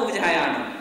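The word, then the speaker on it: उवज्झायाणं: चौथा पद भी चुकते हैं, नमो उवज्झायाणम, व के ऊपर जोर नहीं देते हो आप, नमो उवज्झायाणम।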